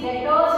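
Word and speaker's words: debtors: दो इंपॉर्टेंट चीज की, डेटर्स एंड क्रेडिटर्स। इसको डेटर्स बोलते हैं, बी साइलेंट है ना, बी साइलेंट।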